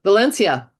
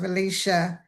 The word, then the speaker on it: Valecia: Uh, Valencia. Uh, just um, so you know, it's pronounced Valicia.